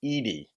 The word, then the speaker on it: Jason Eady: is good stuff and it is pronounced as I understand you guys have educated me that has pronounced Jason Edie not Eddie or any other pronunciation also just as a